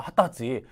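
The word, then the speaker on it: 二十歳: 20세라고 써놓고요, 음과 훈 전혀 관련 없이 핫따지라고 읽는다는 겁니다. 핫따지. 또 몇 살이니? 그때 여러분들이 만약에 20살에 해당한다 라고 했을 때 음이나 뭐 이런 걸로 생각해내시면 안 된다라는 겁니다. 그냥 핫따지라고 해주셔야 되고요.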